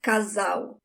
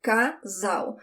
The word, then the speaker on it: casal: Casal. Casal. When the L is the last letter of the word, you do not roll your tongue. It sounds like a W in English. Casal. And I have a lesson